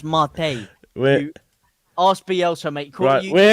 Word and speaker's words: mate: It's yerba mate. It's not yerba mate. It's pronounced mate.